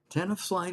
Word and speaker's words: Tenafly: Tenafly, is that how you pronounce that, David? Yep, that's right. Tenafly, New Jersey.